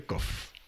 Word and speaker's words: Qof: le CAF et le COF ça se prononce que le CAF est identique à COF et se prononce tous deux CAF alors le mot euh